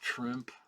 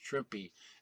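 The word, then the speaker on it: Trimpe: yes proper pronunciation is trippy as in shrimpy at least that's the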